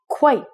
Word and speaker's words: quite: This word is quite. Quite. So it would rhyme with the word white. So you can rhyme quite and white.